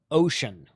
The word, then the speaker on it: Wouxun: This is pronounced ocean, like the Pacific Ocean.